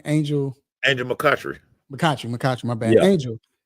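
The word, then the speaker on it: McCoughtry: What's dope about this is, and Angel is Angel McCourty. How am I saying? Am I saying it right? Angel McCutchery.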